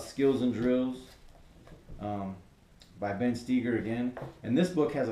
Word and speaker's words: Stoeger: here is by Ben Steiger and I know you see his name when you say it's not pronounced Steiger but trust me it is this is another